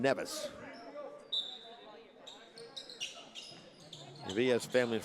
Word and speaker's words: Nevis: I called it St. Kitts and Nevins. It's St. Kitts and Nevis.